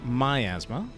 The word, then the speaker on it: miasma: He is going to have Toxin Miasma. Not miasma, as I've sometimes called it in the past. Actually, technically, if you look things up in the dictionary, it will actually validate both miasma and miasma as pronunciations for this word. However, I think it will, for most of them, it probably will also find miasma as being the more common pronunciation.